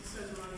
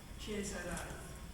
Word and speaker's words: Cesarani: which means that, this, even though my name is Cesarani, I have actually pronunciation is Chiesarani.